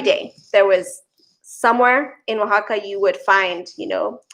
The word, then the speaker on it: Oaxaca: just absolutely beautiful so I went first to Oaxaca to the city and Oaxaca by the way is spelled Oh a ex-ac a but it's pronounced Oaxaca and I can see at Edgar and share